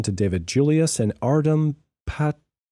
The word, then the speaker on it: Patapoutian: David Julius and Artem Patapotwan. Patapushian. Patapushian. I'm going to say it. Patapoutian. That's how I pronounce it in American English anyway.